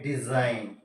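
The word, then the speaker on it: design: हम लिख लेते हैं डिजाइन क्या लिखा हमने डिजाइन वही मेथड साइलेंट जी है क्यों साइलेंट है अ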